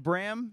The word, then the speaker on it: Bram: So yeah, we got Bram. It's pronounced. Yep. Because I was yeah. saying Bram because I'm a big fan fine.